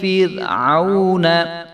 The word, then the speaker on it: فِرْعَوْنَ: وَإِذْ نَجَّيْنَاكُمْ مِنْ آلِ فِرْعَوْنَ، آلِ فِر، را کو جو ہے وہ موٹا نہیں ہونے دیں گے، آلِ فرعون یسومونکم،